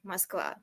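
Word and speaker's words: Москва: but what is it what how is it pronounced really mosa m o KV a mosa and the the the animal for all of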